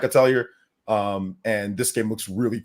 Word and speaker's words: Atelier: How do you pronounce this? I always say Atelier, but it's something They else. call it Atelier.